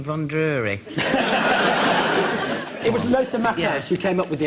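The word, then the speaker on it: Matthäus: Matthaus. Whichever you prefer. Matthaus. Because that's the correct pronunciation.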